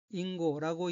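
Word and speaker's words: 隠語: 둘째 줄 가운데 어깨 한자는 한국어로 언어이고 각기 숨기는 말씀어자로 되어 있고 일본어로는 인고라고 읽으며 인고는 어떤 계층이나 부류의 사람들이 다른 사람들이 알아듣지 못하도록 자기네 구성원들끼리만 빈번하게 사용하는 말, 즉 언어라는 뜻입니다.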